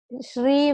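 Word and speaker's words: श्री: Like Shri, we say Shri. When we say it is one syllable, one sound. Shri is one sound, but it has three different letters.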